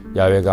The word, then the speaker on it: 야훼: 사실은 한글 성경에도 얼마 전까지만 해도 야훼가 아닌 여호와로 표기가 되고 저희 교단에서는 여호와보다는 야훼가 더 옳은 발음이라고 생각하여 야훼로 바꾸어 표기하고 읽게 된 것입니다.